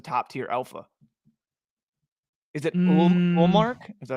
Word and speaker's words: Ullmark: Is it Ullmark? Is that how you pronounce it?